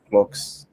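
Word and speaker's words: clox: I pronounce the name C locks, but you can say it clocks. I say it clocks or even clock, where you pronounce the X like the Greeks do it if it makes you happy.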